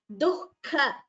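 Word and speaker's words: दुःख: Ahara, rajasasyeshaha, dukha. Note the pronunciation of the word. Dukha, shokamaya, pradaha.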